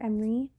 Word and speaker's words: Emris: Hello, this is a time lapse of my character sheet for my character em-ree. The S is silent.